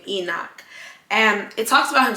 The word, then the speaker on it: Enoch: I believe that's how you say his name Enoch and it talks about him so briefly it